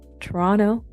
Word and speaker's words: Toronto: Toronto. I guess I'm not supposed to pronounce the T.